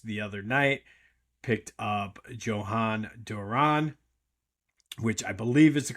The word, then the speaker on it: Jhoan Duran: Obviously, the Phillies the other night picked up Jhoan Duran, which I believe is the correct pronunciation. Probably going to hear all kinds of different pronunciations of it, but from what I'm gathering, it's Jhoan Duran.